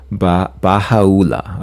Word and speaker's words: Baha'u'llah: Baha'u'llah. Okay, that's how you pronounce it.